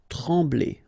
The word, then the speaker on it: trembler: Trembler. Okay, same thing here, nasal, EM, okay, en, trembler, okay, no pronunciation of the M, trembler.